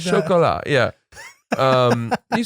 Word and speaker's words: Chocolat: Chocolat.